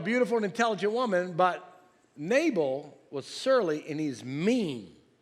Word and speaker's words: Nabal: His name was Nabal, which rhymes with navel.